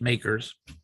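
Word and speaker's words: MACRS: It's pronounced makers and um uh it's not acceptable for financial reporting uh because it it doesn't really consider salvage value.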